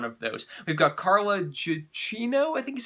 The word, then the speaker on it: Gugino: We've got Carla Gugino, I think is how her name is pronounced, and Bruce Greenwood, and they play a